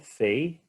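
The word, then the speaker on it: פ: Aqui ao lado nós temos, então, a letra Fei, é o som de F, não de P, e aqui o formato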